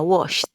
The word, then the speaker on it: washed: pasado sería washed entonces vemos que como el Wash termina en este sonido de sh el sonido de como para pedir silencio que es este de acá Entonces cuando el verbo está en infinitivo y termina en este sonido que sería una consonante sorda en su forma escrita pues al verbo regular le agregamos Ed por lo tanto esta